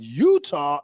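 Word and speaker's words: Eutaw: today this guy was born in Utah Alabama that is not that is not spelled with a u that is spelled e u or or not a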